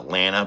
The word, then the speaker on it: Lana: pronounce her name so one time she says it's like banana Lana Banana thank you L